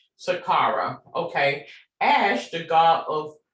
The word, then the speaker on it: Saqqara: And let me make sure I'm pronouncing that word correctly as well. Saqqara. Saqqara.